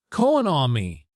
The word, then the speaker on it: economy: The stress is on the second syllable e, economy, but in the word economy, the stress moves economic.